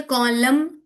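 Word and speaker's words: column: तो इसलिए कॉलम एन is silent, dam एन is silent, autumn N is silent. So usually letter n is silent at the end when it comes after m, ठीक।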